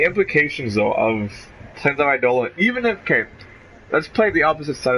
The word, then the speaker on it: Eidolon: Is that how you pronounce it? Eidolon. Eidolon. Okay. Yes.